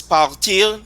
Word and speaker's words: parti: So we say, for example, to leave in French is partir, Patois is parti.